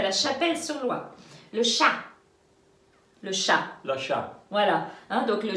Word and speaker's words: chat: Le chat, le chat, voilà. Donc le chat, l'animal, le chat, AT, on ne prononce pas la consonne finale.